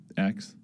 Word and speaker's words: X: um so I mean it's just x the letter X um and then the AE is like pronounced Ash um